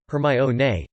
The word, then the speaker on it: Hermione: of the character sounding out her name as hermione to dermstrang's triwizard champion in order to clear